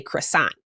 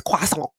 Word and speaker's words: croissant: And what really got me most recently is this British guy on TikTok being like, I hate how Americans say croissant. It's not croissant. It's croissant.